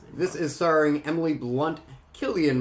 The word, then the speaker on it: Cillian: is soaring Emily Blunt Gillian Murphy that's how you pronounce it raise it I've always said Cillian and I'm never gonna change I don't care if the ladies elf says it's Killian you idiot I know